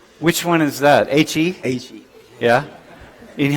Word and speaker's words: He: He.